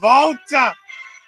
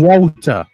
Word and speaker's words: Walter: is Volta although I'd like to say that the UK fans are stupid because they kept calling him Walter it's a it's the W is pronounced as a V you prat I am